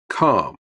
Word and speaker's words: calm: Calm. In this word, L is the silent.